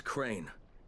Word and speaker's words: Crane: store no my name's crane crane crane rhymes with train and brain and sane and grain and rain and plane and the other kind of plane and can i come